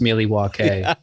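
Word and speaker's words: Milwaukee: Excuse me, it's actually pronounced Miliwake.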